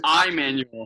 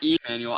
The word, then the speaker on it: Immanuel: And Immanuel, not Emmanuel.